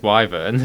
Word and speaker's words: wyvern: Based on the fact that BioWare pronounce it as Wyvern for Dragon Age, I'm going to go on that, because I think...